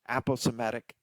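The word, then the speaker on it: aposematic: example of that is Apel somatic sometimes pronounced apple somatic coloration and a poe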